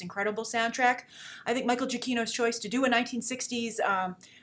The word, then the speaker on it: Giacchino: I want to make sure I pronounce his name correct. Michael Giacchino, who did a lot of the scores for